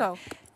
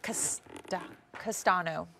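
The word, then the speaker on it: Castaño: Coco. Oh, wait. No, it's like Castano.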